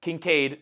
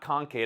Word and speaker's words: Kincaid: They have Kincaid, not Concaid. I don't know why I always pronounce it wrong.